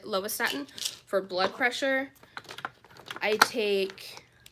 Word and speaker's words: lovastatin: are here I take lovastatin or lovastatin I think that's how you pronounce it lovastatin for blood pressure I